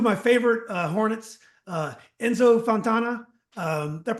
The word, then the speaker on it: Enzo Fontana: Uh Enzo Fontana. Um did I pronounce that right? Enzo.